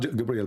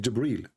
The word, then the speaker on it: Jibreel: It's not Gabriel, by the way, it's Jibreel.